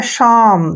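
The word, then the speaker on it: psalm: ए एल एम देखिए पी से पहले यहां पर एस से पहले पी है तो पी का प्रोनंसिएशन हमने नहीं करना है और एस का जो उच्चारण है श कर श और ए का उच्चारण आ करेंगे और जब भी एम से पहले एल आता है एल का उच्चारण हम नहीं करते हैं और एम को पढ़ेंगे मैं ये हो गया शाम देखिए श्याम क्या पढ़ना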